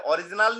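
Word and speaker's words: oryzanol: और इसके साथ साथ ओरिजिनॉल भी शामिल है, ओरिजिनल नहीं सर, ओरिजिनॉल भी शामिल है इसमें।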